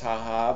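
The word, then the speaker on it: jaja: ja ja i'm aware that ja jai is pronounced haha but in america in the best country in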